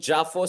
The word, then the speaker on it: JAFOS: And in the past 2 years, you have this emergence of this trilateral, I call it JAFOS so that it rhymes with AUKUS, Japan, Philippines, US trilateral framework.